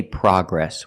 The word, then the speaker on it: progress: In America, we say progress. We don't say progress. The American pronunciation is progress, with the short ah sound, like hot and stop.